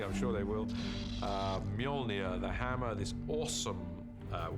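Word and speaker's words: Mjolnir: The first challenge with a hammer is to work out how to pronounce it, which is Molia uh in our movie at the moment. Until somebody corrects me, I'm sure they will. Uh Molia, the hammer, this awesome uh weapon for Thor.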